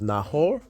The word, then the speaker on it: Nahor: Yeah, so like for the pronunciation, it's Nahor. Well, it doesn't.